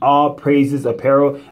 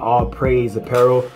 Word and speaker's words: All Praises Apparel: I'm gonna read a note from All Praises Apparel. It's pronounced All Praises Apparel, not All Praise Apparel, my mistake.